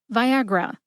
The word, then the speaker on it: Viagra: North American waterfall Viagra has three syllables VI like the color violet a like Agriculture and R like Rush put that all together and you get Viagra emphasize a see if